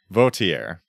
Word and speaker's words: Vautier: so s Shakur uh s vautier I'd say if we were doing a French pronunciation and that would be